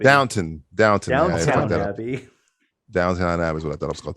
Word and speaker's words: Downton: anglophile i love british probably you're pronouncing it incorrectly and calling it downtown abbey downton down downtown that was